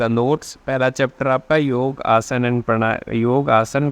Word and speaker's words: योग: लोग बोलते हैं कि हम योगा करते हैं योगा नहीं होता है योगा बोलने से आप ए आसन फालतू नहीं करते हैं यह योग होता है ठीक है सो pronounce it correctly योग योग क्या होता है